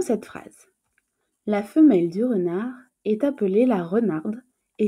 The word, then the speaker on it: renard: Il s'agit du mot renard, R-E-N-A-R-D. La lettre finale muette pour le mot renard sera donc la lettre D.